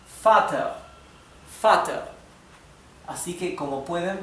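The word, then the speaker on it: Vater: Por lo tanto, la V en alemán también adquiere la pronunciación de la F. Por ejemplo, la palabra para padre. La palabra para padre es fat.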